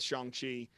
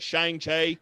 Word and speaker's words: Shang-Chi: badly pronouncing this movie i wanted so badly to call it shanghai i'm sure that i've